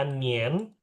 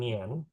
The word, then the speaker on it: 年: Oke, ini tadi ya Nien, bacanya Nien bukan Nian. Dia IAN jadinya IEN. IEN.